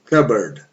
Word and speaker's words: cupboard: Cupboard. A pronúncia ele é cup.